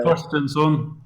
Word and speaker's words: Thorstensson: Thorstensson.